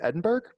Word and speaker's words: Edinburgh: James Hutton went to school at the University of Edinburgh. And thank you, proper way to pronounce it.